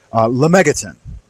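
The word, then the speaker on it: Lemegeton: Lemmigaton.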